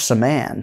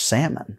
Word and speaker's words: Saman: So for Josh Saman to make it to the UFC and be called Josh Salmon, right? Like, his whole family's watching and they're calling him Salmon.